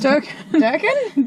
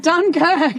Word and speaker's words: Dunkirk: What was Durkin? Dunkirk. Dunkirk, right. Yes, I know the proper pronunciation of this.